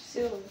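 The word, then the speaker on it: sure: কইবো সালে সাউন্ড হবো জেমিতি কি সির এটা সিওর না সোর সোর সোর সুর মানে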